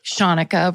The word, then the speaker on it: Shanika: Shanika rhymes with Monica because even though it's spelled the same way, I'm constantly having to explain.